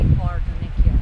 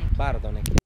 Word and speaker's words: Bardonecchia: Don't say Bardonecchia. How do you say? Bardonecchia.